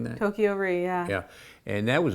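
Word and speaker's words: Toko-Ri: times, The Bridges of Tokyo Ri, am I pronouncing that? Tokyo Ri, yeah.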